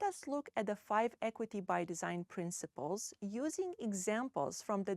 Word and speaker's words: Equity X Design: Equity to drive Innovation we use the equity X design pronounced Equity by Design This method integrates racial